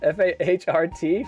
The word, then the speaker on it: Fahrt: That's not fart, is it? F-A-H-R-T? Fahart? How do you say that? Fart? Gute Fahrt, yeah, gute Fahrt, yeah.